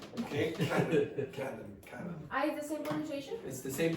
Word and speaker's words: Canon: Canon. The C A N. It's exactly the same as I just said. Okay. Canon.